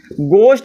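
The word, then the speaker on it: ghost: की गोष्ट बोलोगे सर अभी तक तो शायद मैं घोस्ट बोल रहा था लेकिन अब घोस्ट नहीं अब गोष्ट बोलूंगा क्या बोलूंगा अब गोष्ट बोलूंगा क्योंकि मुझे पता चल गया की अगर जी के आगे या छ जाए तो वहां पर साइलेंट हो जाता तो सही से सिर्फ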